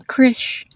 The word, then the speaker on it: Krish: Another example is in the name Krish. So Krish is spelled as Krish, and the I has a short I sound to it.